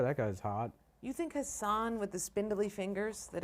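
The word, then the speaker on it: Hasan: He's like, people haven't actually been saying my name wrong, and he's like, it's Hassan.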